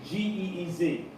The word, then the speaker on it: Ge'ez: And I'm going to spell it for y'all. It's Ge'ez.